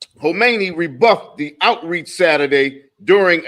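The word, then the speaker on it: Khamenei: his name yeah um the K is silent you got it homei rebuffed the Outreach Saturday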